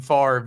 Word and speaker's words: Favre: like Brett Favre saying Favre even though the V and the r are literally just flipped see okay okay okay